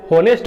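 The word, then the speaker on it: honest: ही वॉज एन ऑनेस्ट मैन, यहाँ पर एच जो है साइलेंट है, बहुत सारे बच्चे इसको ऑनेस्ट बोलते हैं, परंतु इसका जो करेक्ट प्रोनाउंसिएशन है वो ऑनेस्ट है। ही वॉज एन ऑनेस्ट मैन,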